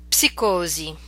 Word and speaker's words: psicosi: Okay, so these are words we're familiar with, but in English we do not pronounce the P, whereas in Italian you must pronounce it. Let's practice them. Psicologia, psicologo, psichiatria, psicosi, psoriasi.